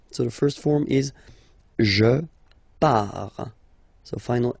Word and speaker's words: pars: So the first form is je pars. So final S not pronounced, je pars. Tu pars, same form, you can see here and here. So final S not pronounced, tu pars.